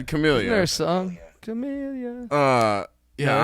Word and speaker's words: Camellia: They're not going to send him out a winner for the I don't Camellia Bowl think in he's beautiful retired. Montgomery, Alabama. His wife died. Camila.